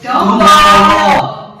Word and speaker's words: Dombolo: That is pronounced as Dombolo.